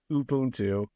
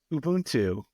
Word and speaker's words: Ubuntu: this podcast absolutely gets angry whenever somebody says Ubuntu it's Ubuntu UB and it makes him absolutely mad whenever